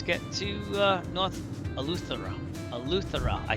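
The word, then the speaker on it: Eleuthera: Althera.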